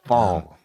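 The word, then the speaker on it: Pfohl: Luger from day one so fall PF o l silent p a rarity could you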